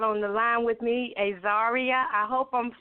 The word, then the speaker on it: Azaria: It's Azaria.